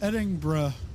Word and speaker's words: Edinburgh: Maria, it's pronounced Edinburgh.